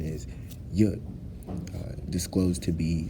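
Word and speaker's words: יוד: a semicolon, and in hindsight, what the actual pronunciation is, Yud, disclosed to be said from Jews as the power of God only, in the Hebrew lettering system.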